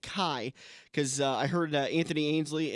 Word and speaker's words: Kai: that say his name it's ka Y but I'm pretty sure you pronounce it Kai cuz I heard Anthony